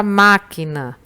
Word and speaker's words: máquina: Na palavra máquina, você pronuncia com mais força a sílaba ma.